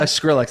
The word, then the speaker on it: Skrillex: I don't know if I'm pronouncing it Yes, right. I like Okay. Yeah. Skrillex, yeah. Skrillex.